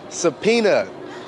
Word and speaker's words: subpoena: don't seem all that educated too okay willie pronounce this word and use it in a sentence all right subpoena that's what i got last month to go